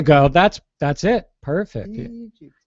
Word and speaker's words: Egypt: that's that's it perfect Egypt yeah he lives in Egypt she lives in Egypt we just give it more of a long e sound wow that's good to